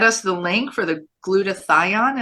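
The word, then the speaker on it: glutathione: the link for the glut to thion is that how you say it yes good and then we're gonna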